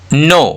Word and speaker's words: know: नो, KNOW यहाँ पे क्या हो गया? के और एन दोनों कॉन्सोनेंट है, के यहाँ पे साइलेंट हो गया।